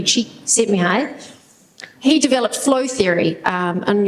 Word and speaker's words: Csikszentmihalyi: by a guy called Csikszentmihalyi. I looked that up and practiced pronouncing that. It's definitely Csikszentmihalyi.